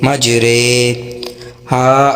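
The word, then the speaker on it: مجریها: کو امالہ کہتے ہیں۔ امالہ کی را کو اردو کے لفظ قطرے کی را کی طرح پڑھیں، یعنی ری نہیں رے پڑھیں، ٹھیک ہے، یعنی ری نہیں بلکہ رے پڑھیں۔ امالہ کے ہجے اس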